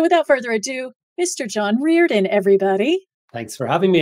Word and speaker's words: Riordan: And one of the things that I want to point out is it's actually Riordan.